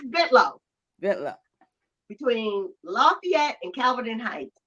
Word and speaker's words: Bentalou: we lived on a bit low it's spelled b-e-n-t-a-l-o-u that's called ventilu and people said what is bentalou so you don't get mugged so it's bit low I know but I